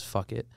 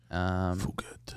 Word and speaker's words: Phuket: I'll walk around Phuket, Thailand. mm-hmm. Otherwise pronounced as fuck it. Phuket.